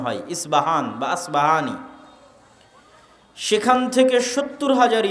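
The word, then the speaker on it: أصبهان: নামে সেই নগরী আছে আমরা প উচ্চারণ করি আরবিতে এটা উচ্চারণ হয় না আরবিতে হয় আল আসবাহানি বা উচ্চারণ হয় ইসবাহান বাসবাহানি সেখান থেকে 70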